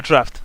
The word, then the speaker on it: draught: but by the way yes that's pronounced draught yeah draft draft yeah that's one of those funky British spellings all right you're trying